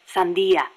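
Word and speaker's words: sandía: They call us watermelon sellers because the general's name sounds like the word for watermelon. Sandia. Really? Si. Damn it, Kaz. Oh, poor boss.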